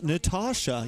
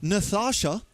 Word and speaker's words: Natasha: Oh, like how you pronounce Natasha. You don't pronounce it Nathasha.